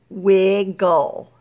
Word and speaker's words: wiggle: All right, now, that E is not really going to make any sound. It's there because the second syllable, wig is a syllable, it gets a vowel, wiggle, it needs a vowel. So we put an E there. It's not going to make a sound.